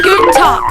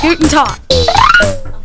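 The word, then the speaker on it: Guten Tag: say hello and good day in German it's good and talk say it good and talk louder one more time good now if you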